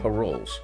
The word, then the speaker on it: parol: look pictures of them it's basically spelled like patrols without a t parols and it's basically like